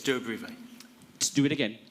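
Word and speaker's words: Durobrivae: from the excavation of, now, how do I pronounce it? It's Duabrive. Do it again. Duabrive.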